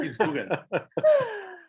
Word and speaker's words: Kitzbühel: Kitzbühel. Kitzbühel.